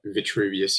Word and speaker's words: Vitruvius: for me was um morgan freeman's vitruvius or um and vitruvius yeah that's that's the right pronunciation um i thought though